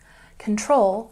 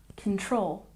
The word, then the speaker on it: control: Control, we stress the second syllable. Control, control.